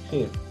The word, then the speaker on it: here: We hope you enjoy your stay here. Okay. Hotel. Vale, ¿y esto? Vale. Recuerda que la última es, exactamente, la última es muda.